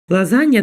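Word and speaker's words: Lasagne: коллі це брюссельська капуста лазанья До речі читається дії лазанья незважаючи на те що тут буква г присутня але читається все одно лазанья це лазанья тут треба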